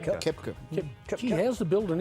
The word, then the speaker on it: Koepka: Paul Casey, Brian Harman, Tommy Fleetwood and Brooks Koepka, all 7 under.